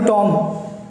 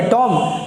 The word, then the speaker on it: tomb: तो आप इसको क्या पढ़ेंगे? टॉम? नहीं, ऐसा नहीं है। यही तो इंग्लिश की प्रॉब्लम है और यही आपको सीखना है और यही मैं आपको सिखा रहा हूँ। तो इसको पढ़ते हैं TOMB, इट्स कॉल्ड टूम।